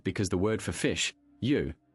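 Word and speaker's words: 鱼: For instance, fish is a staple during the Lunar New Year because the word for fish, yu, sounds like the word for surplus or abundance.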